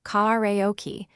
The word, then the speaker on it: karaoke: Once done, emphasize the second syllable, karaoke, because stress shifts meaning and sounds natural.